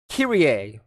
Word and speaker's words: Kyrie: uh enter nero and kyrie is how her name is pronounced but it's spelled kyrie for some reason i don't know look